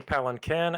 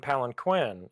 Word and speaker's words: palanquin: up palen keen and I do see palen Ken and palen Quinn as also uh acceptable pronunciation palanquin pal palen pal